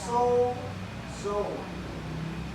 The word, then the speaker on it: sozo: Ang original BP nito is so zone. Ayan, so zone. Ayusin niyo pambigkas ha. O so kasi meron ganon so hindi so ha so yan yung tamang pagkabikas ano ang saklaw ng sozo